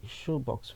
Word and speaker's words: Showbox: But somehow the name somehow sounds like shoebox when it's spelled showbox.